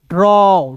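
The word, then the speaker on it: draw: फिर देखिए यहाँ पे डी आर, तो डी आर को दोस्तों ड्रॉ पढ़ लीजिएगा। ए डब्ल्यू है तो इसका उच्चारण औ के रूप में करेंगे। बताइए दोस्तों इसे क्या पढ़ेंगे? ड्रॉ।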